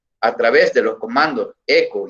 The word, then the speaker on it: echo: Bueno, con echo, o sea, hecho, eso que está acá se pronuncia echo, nosotros decimos que podemos utilizar muestra 1 o más cadenas.